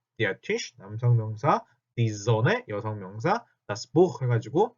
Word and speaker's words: Sonne: 자, n이 두 개 들어가니까 die Sonne 하고 있는 게 아니라 die Sonne, n 하나 발음입니다. die Sonne 이렇게 발음을 하셔야 돼요.